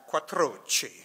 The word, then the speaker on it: Quattrocchi: Not bad, Quattrocchi. You know, you get the roll of the R's there.